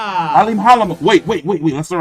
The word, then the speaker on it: Alimkhanuly: Yeah, so basically that K in there is silent as fuck. That K silent.